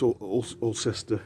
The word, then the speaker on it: Alcester: It's pronounced Ulster, the locals call it Ulster. But it's Alcester is the spelling, if you want to look it up.